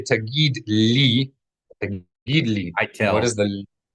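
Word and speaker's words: תגיד: Two syllables, T-A-G-E-E-D, tagid.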